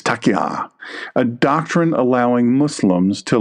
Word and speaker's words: taqiyya: Taqiyya, or some people call taqiyya, or taqiyya, or taqiyya. It's taqiyya, a doctrine allowing Muslims to lie or conceal belief when under threat.